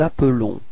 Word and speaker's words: appelons: Nous nous appelons. Repeat. Nous nous appelons. Okay, so you can notice that the pronunciation is a bit different for the verb. It's appelons. Okay, because there is only one L there.